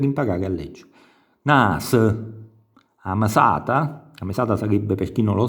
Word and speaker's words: mesata: Nas, a mesata sarebbe, per chi non lo sa, lo stipendio mensile dell'impiegato o dell'operaio, quindi a mesat, sentite, c'è dopo la M c'è quel suono mesat, o cuttun, vedete la